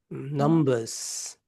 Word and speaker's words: numbers: Numbers. Numbers. Mm, My numbers. mm, You have to pronounce the Z sound, S.